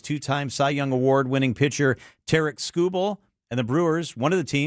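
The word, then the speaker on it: Tarik Skubal: Tarek Skubal. Tarek Skubal. Thank you very much. Hopefully he But you becomes have a to pronounce brewer.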